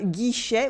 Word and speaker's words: guichet: Le guichet with a silent T.